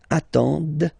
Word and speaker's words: attendent: And the last one, same thing, classic ending for il, elle at the plural form, ENT, but then you don't pronounce them. Ils attendent, okay, so remember you get to pronounce this, the D at the end, okay.